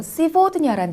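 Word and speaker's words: сегодня: 이제 앞으로 여러 가지 단어를 배우실 텐데 그 중에서 시보드냐라는 단어가 있습니다. 시보드냐. 이것은 오늘이라는 뜻을 가지고 있는 단어입니다. 시보드냐의 경우에도 마찬가지로 게라는 철자가 v 소리가 나고 있습니다. 시보드냐.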